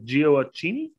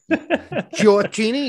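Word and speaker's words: Gioacchini: maybe bring back uh geo accini they say that right giorgini yeah you did but since giocini's moved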